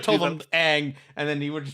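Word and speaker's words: Aang: Ong. I should wanted have to do told that. him Ang, and then he would have just been correctly pronouncing it for the rest of the show.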